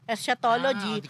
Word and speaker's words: eschatology: mali pronunciation ko ah esatology o escatology o hindi hindi iba yon eschatology or the study of the end of the world in Christian doctrine.